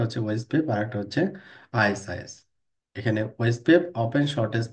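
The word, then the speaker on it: IS-IS: ইন্টারমিডিং system ইজ an older word for router pronounced আইএস আইএস এভাবে pronounce করা হয় এটাকে পপুলার ইন সার্ভিস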